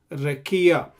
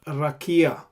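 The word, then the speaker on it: רקיע: So there is a shwa here, that's why I'm pronouncing as rekia instead of rakia.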